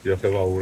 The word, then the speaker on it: Diolch yn fawr: Is it Diolch yn fawr? Diolch yn fawr, yeah.